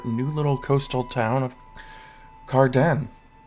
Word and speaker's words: Cardend: little coastal town of Carden the D is silent all right so where